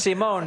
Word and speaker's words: Simone: It's Simone, and the way you said it, Sandy, was phone.